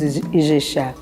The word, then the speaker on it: Ijexá: Ilexá na África, Iguexá para os nossos antepassados e Ijexá hoje para nós, né? Nós pronunciamos Ijexá.